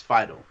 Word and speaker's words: Fiedel: I think you pronounced it wrong. It's Fidel.